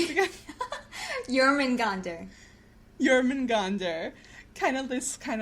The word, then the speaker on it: Jörmungandr: Jörmungandr, oh my god, tell me how to pronounce it again. Jörmungandr.